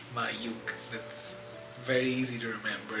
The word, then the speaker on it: Mayukh: my name is mayuk m a y u k h uh it is pronounced and remembered as my UK L my yuk that's very easy to remember if you think